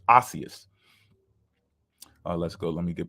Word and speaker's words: osseous: Osseous. Okay, I was saying it wrong. Consisting of or turned into bone. Ossified. Okay, so it's osseous.